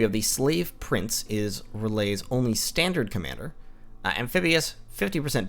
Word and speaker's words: R'lyeh: today on Early Age Relay, which is, or Relais, however you'd like to pronounce that. Probably Relais is more accurate.